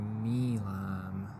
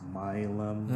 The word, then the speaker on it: Milam: Hopefully, if we beat this traffic, we might have to go through Milam. It's actually pronounced Milum.